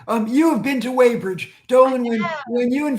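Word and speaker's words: Weybridge: So, in the book, um, am I pronouncing his name right? Waybridge? Yes. Okay. Yep. That's the town I live in. Um, you have been to Waybridge, Dolan.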